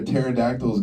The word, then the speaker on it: pterodactyl: And he's like, "Because the pee is silent." And then my grandma's like, "And then my uncle was like," and I'm just sitting in the back. I'm like, "Yo, there's a P in pterodactyl. The is this?"